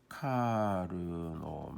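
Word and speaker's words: Karnaugh: 카르노 맵 어떤 분들은 또는 어떤 책들에는 보면 카나프 맵이라고 되어 있는데요. 카르노 사람 이름이겠죠. 카르노가 만든 맵이다. 카르노의 맵이다. 이런 뜻이 되는 거고요. 카나프 맵이라고 하는 건 영어 발음으로 하면 그런 식으로 되겠습니다. 근데 사람 이름은 가능하면 그 나라에서 부르는 대로 부르는 게 맞다고 봅니다. 자, 카르노라는 사람은 어떻게 맵을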